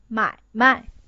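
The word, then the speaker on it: 买卖: so the pronunciation is 买卖. The meaning of that is business. So you have to pronounce the first character stronger than the second one.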